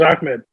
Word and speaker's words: Ahmed: So my roommate in college, his name was Ahmed. He corrected me on how to say it, and I had to put the Ahmed into it, so I said it correctly.